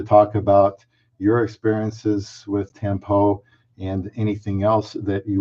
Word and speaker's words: tampo: have understood it is tampo and it is pronounced tempo not a tempo like I said in the